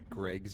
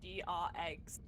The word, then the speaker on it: Greg: So I've seen too many say it as GR-eggs, and I get pissed off every time. There's no way Greg. anyone that wasn't from Louisiana did that. Correct. The Gregs.